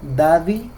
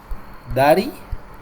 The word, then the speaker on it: Daddy: Por ese motivo que al cantante de reggaetón yo le digo dy yanke y no le digo Daddy yankey usted ya visto Cómo se escribe dary Yankee no dary yanky se escribe así Dari se escribe con Doble D Dari cierto y esa regla me permite a mí reemplazar este sonido de la d por una r Entonces ahí es donde